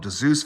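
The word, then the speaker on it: Dzus: some people call it Zeus fasteners, some people call it DeZeus fasteners. It's spelled D-S-U-Z.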